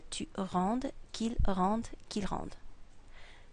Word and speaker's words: rende: So it becomes que je rende, que tu rendes, qu'il rende, qu'il rende. This word, and this word are all pronounced the same, rende.